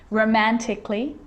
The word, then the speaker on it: romantically: let's start making now the letter a can be silent especially in words that end in a l l y like these romantically musically logically so i'm not pronouncing romantically musically and logically your email cut the